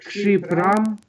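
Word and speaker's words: क्षिप्रम्: К Кшипрам. Кшипрам или кшипрам? Кшипрам. Так тогда а долгую прошу произносить как долгую.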